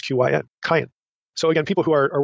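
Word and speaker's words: Qayin: Q Y and Y the name is q-y-n cayenne and then the Y on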